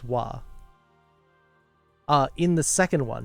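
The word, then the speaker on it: は: It will be the letter ha, but it will be pronounced wa.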